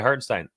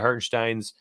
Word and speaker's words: Hartenstein: Isaiah Hartenstein over 7.5 points. Hartenstein, I think is how they actually pronounce it.